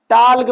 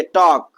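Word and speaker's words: talk: अच्छा, यहां पर देखिए, जहां पर बच्चे अक्सर गलतियां करते हैं, वाल्क पढ़ देते इसको, टाल्क पढ़ देते इसको।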